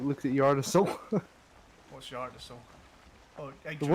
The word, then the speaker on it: Yggdrasil: Have you never like looked at Yggdrasil? What's Yggdrasil? Oh, The Yggdrasil. world tree. Yggdrasil. Yggdrasil. Yeah, I've always pronounced it Yggdrasil.